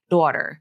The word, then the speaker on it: daughter: pronounce it that way I pronounce it with the a as in Father vowel that has no lip rounding a daughter and in